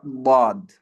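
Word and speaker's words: ض: Slightly attach it to the upper molars and you get the letter Dad, okay. So if everyone can practice it, Dad, Ad, Ud, and Id. It sounds quite difficult.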